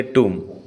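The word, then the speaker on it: tomb: क्या कहते हैं इसको टॉम नहीं कहेंगे हम इसको टॉम कहते हैं और ओंस अगेन इसमें भी साइलेंट है और हम कहते तुम फॉर एग्जांपल ही व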